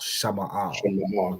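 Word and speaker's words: שמאל: You want to look at the Hebrew, the way it's written in the Hebrew, and pronounce it from that. So Sha is separate, Ma'al. Okay, so Sha Ma'al, Shama'al.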